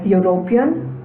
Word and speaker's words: European: Words like European, university, uniform, unit, utensil, although begin with a vowel, the initial vowel is pronounced like the word you, and hence the article a is used before them.